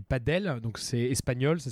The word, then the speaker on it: padel: centre de padel donc ce n'est pas du paddle comme le la discipline août une paix sur une planche et thuram c'est du padel donc ces espagnols ça